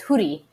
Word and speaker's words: Houry: Well, I mean, technically you should just, I'm trying to get people to say it like it should be said with the rolled R. So it's Houry, but okay.